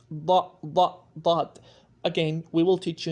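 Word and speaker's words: ضاد: Again, this sound does not exist in English or in any other language.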